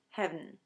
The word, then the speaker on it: heaven: And in Shakespeare's time, heaven was often pronounced as heaven. It may be that you've sung hymns in a church or some Christmas carols that need heaven to happen on just one beat, and that's the same thing going on here.